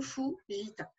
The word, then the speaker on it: Fujita: Normalement, dans son nom de famille, il n'y a pas de O. C'est Fujita, mais ça se prononce évidemment Fujita.